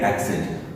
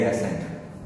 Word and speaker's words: Accent: ये जो है वो है एक्सेंट, एक्सेंट। अब इसको बहुत अच्छे तरीके से पहचानने के लिए बोलूंगा, ह्यूंडई एक्सेंट की कार आती है, ह्यूंडई एक्सेंट। लोग उसको क्या बोलते हैं? Hyundai एसेंट।